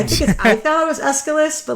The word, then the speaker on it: Aeschylus: I think I thought it was Aeschylus, but like who the fuck?